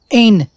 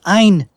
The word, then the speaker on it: Ein: she can still see it is not pronounced ain it is ein all of you seem